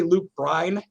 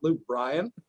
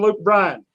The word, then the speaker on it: Luke Bryan: why do you say Luke Bryan and not Luke Bryan? And I said, have you ever heard Luke Bryan say his name? It's hi, I'm Luke Bryan. There's no A in there.